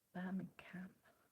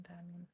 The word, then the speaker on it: Birmingham: Well, I mean, that's how I pronounce it, Birmingham.